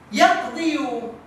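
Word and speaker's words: يَقْضِي: Yaqdi. Namun, apa tadi rumusnya? Ketika dia kasroh dengan dhamma siqal, orang Arab tidak bisa menyebutnya, maka bacanya yaqdi. Ya, yaqdi.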